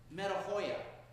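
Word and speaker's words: μετάνοια: In Greek, it's pronounced metanoia.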